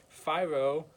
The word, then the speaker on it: FIRO: And the theory I decided to couple with The King's Speech was the FIRO theory, which was introduced by Dr. Will Schultz in 1958. FIRO, which rhymes with Cairo, like in Cairo, Egypt.